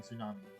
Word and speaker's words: tsunami: It's like a lot of the silent T in Tsunami.